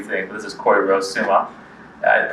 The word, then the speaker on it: Soumah: This is Corie Rose Soumah. I pronounced the last name correctly. Soumah, yeah.